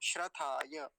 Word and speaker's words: श्रथाय: और ये जो यकार है इसका उच्चारण अच्छे से आना चाहिए अंत में, नहीं तो कई बार बड़ी जल्दी बोल के निकल जाते हैं, श्रथाय, श्रथाय, ऐसे जल्दी। श्रथाय, य जो है उसका उच्चारण साफ साफ स्पष्ट आना चाहिए, श्रथाय।